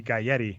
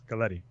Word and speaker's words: Galletti: So Arturo's like the trap, because you think it would be Galletti, but it's Galletti.